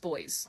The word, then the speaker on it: Boise: It's spelled Boise, but it's pronounced Boys.